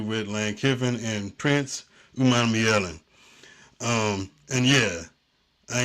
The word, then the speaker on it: Umanmielen: Lane Kiffin and Prince Umanmielen. And yeah, I ain't scared to say that name. It's a big name, but it sounds like it's spelled.